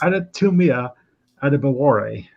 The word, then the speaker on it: Adetomiwa Adebawore: bit of hype lately, and I'm going to pronounce his name correctly for the first time. It's Adetomiwa Adebawore.